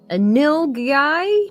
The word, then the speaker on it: nilgai: It's called a nilgai. Nilgai? I think that's how it's pronounced.